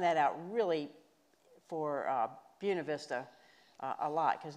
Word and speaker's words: Buena Vista: out really for uh buena vista uh a lot because nobody else in the world says buena vista they they say it like it's supposed to be said bueno vista but but but let's